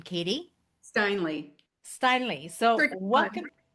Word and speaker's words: Steinle: Steinle. Steinle. So, Tricky one. welcome. Sorry? Oh, I was just saying it's a tricky one. I hear Stinelli, Steinle, like all the things, so you won't offend me.